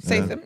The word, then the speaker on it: Statham: Statham. Jason Statham. Statham.